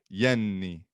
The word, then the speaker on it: Jenny: His wife's name is Jenny, but the J is a y, so it's Yenny.